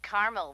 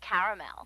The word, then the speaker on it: caramel: it in Carmel actually you said Carmel when it's pronounced caramel can't we just call